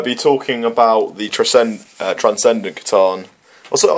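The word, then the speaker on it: C'tan: But we'll be talking about the Transcendent Catan. Also, I heard people talking like Satan or like Catan or it's, Satan. It's Catan. I believe it's a hard K, like the Greek K.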